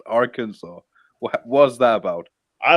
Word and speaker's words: Arkansas: ar in front and called kansas but it's pronounced arkansas what was that about i don't know bro